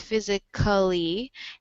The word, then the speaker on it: physically: just reduced to nothing, and so now these two words just have three syllables when you pronounce them in in the United States.